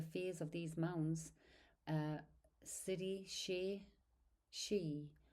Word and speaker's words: sidhe: Over millennia, the fears of these mounds, uh sidhe, she she, pronounced she, that's s i d h e, pronounced Sidhe.